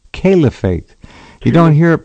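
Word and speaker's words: caliphate: very often and Kate and kff it's not Calif it's calefate you don't hear it pronounced properly uh okay so much for that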